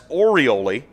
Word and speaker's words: Orioli: Santiago Orioli. That's Orioli. Make sure I get that pronunciation right.